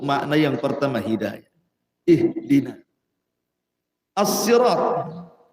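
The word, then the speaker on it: صراط: yang pertama HID ihdina asirat ada yang membacanya dengan Sin asirat ada yang mengatakan Shad asirat asalnya Sin Sirat kemudian orang Arab susah menyebutnya akhirnya jadi Shad asalnya Sirat jadi Sirat gitu Shad Dol gimana itu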